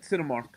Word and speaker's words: Cinemark: Cinemark.